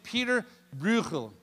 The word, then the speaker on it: Bruegel: His name was Peter Bruegel, and that is how you pronounce it, because there was a little speaker next to the thing, and I played it like 10 times. Peter Bruegel, which almost sounds Hebraic, really. That's a good Hebrew word, is the Chakabalugi, and you're speaking Jewish.